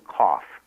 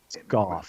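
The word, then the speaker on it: Gough: a woman named Susan Kauf. I hope I'm pronouncing it right. Goff. There you go. It uh it rhymes with cough.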